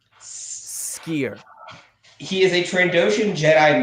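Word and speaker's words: Sskeer: And no, that's not me like having like a speech impediment. That is literally how his name is pronounced. It's Skier. Ssker. The SS being specifically pronounced. Skier.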